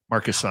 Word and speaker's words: Marchesani: It sounds like the CH is pronounced like a K. Marchesani.